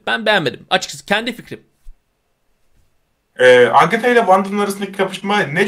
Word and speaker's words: Agatha: Agatha. Agata. Agatha ha? Ben de telaffuz harbiden kötüymüş.